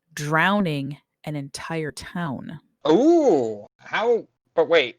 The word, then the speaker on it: Aitch: start with a little town called h and not the letter h it's said h but it's spelled a-i-t-c-h okay formally located in